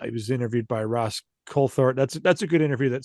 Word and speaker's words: Coulthart: Colthart. I think you say the th sounds like a T. Colthart is what I think he says.